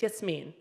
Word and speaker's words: Yasmin: shoulder sling anyways um my name is Yasmin um or yes mean whatever if you can pronounce it it's yes mean do I have anybody